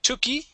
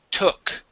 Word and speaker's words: took: Here you had said tuki. All right. It only ends with a k sound. So the word is took.